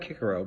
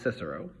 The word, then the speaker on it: Cicero: roman writers like cicero which will look like kikaro but it's actually pronounced cicero and wrote biographies of